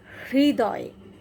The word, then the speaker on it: হৃদয়: ঋ বলবো তখন আমরা জীবটাকে এই যে জীব এটাকে তালুতে নিয়ে লাগাবো হৃ তারপরে দয় দয়